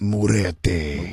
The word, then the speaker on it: Muerte: That's pronounced Muerte.